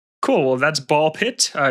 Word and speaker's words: Ball x Pit: Well, that's ball pit. Uh, it's spelled ball x pit if you're searching for it, but the x is silent when you say it.